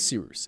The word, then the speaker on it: Cyrus: My name is Seeroos. It's spelled like Cyrus, pronounced like seerooster. Just take out the tur.